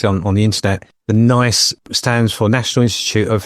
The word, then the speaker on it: NICE: NICE with a silent H. Yeah, silent H.